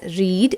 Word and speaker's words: read: So we can say that its second form and the past participle verb form are pronounced like that primary color, red.